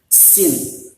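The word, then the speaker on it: سين: Sama seperti ada hembusan angin sedikit, seperti apa namanya, suara ular gitu, sin, ya.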